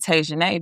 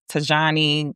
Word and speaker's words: Tajane: People couldn't pronounce Tajane when I was younger. I got Tajani, Tajane. I got all these different things.